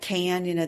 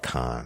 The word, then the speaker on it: Cannes: Well, at Cannes, the big festival. Yes. Okay. Cannes, It's called Cannes. Cannes. I call it Cannes.